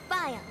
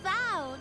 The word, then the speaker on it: Val: Yes, high five, Vile. It's Val, not Vile. That's how you say it.